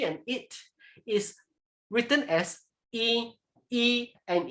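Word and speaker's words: 伊: And the pronunciation is e. You pronounce it as e.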